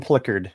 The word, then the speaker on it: Plikerd: So let's bring on and he'll get you straightened out, Ken, on how you pronounce his name. Hi. Yep. Hi. Hi. Good evening, everybody. And it's Plikerd.